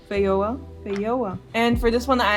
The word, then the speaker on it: Feijoa: Alright, according to Google, it's pronounced Feijoa. If I understand this right. Feijoa.